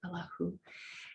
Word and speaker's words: Allahu: Every time we say the name Allah as God, the who is at the end, whether we enunciate it or not, but it's inferred all the time. Here we actually pronounce it Allahu.